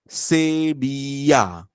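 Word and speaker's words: Sevilla: म्हणून मानलं जायचं तर हे आहे डबल एल पण त्याचा साऊंड असतो य डबल एल साऊंड य होतो हा वर्ड आहे सेबिया सेबिया सेबिया का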